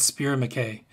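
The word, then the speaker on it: Spier & Mackay: There's a company online called Spear McKay. It's spelled S-P-I-E-R and then the word and then M-A-C-K-A-Y.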